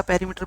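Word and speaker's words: perimeter: लिखो आप difference in पेरीमीटर्स, difference in पेरीमीटर्स। 25 के कई पैरामीटर बोलते हैं, पैरा नहीं है, स्पेलिंग से देख लो, पैरी है ना।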